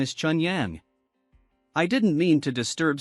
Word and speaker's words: Chun Yang: T/N, Chun Yang is pronounced the same way as Pure Sun in Chinese.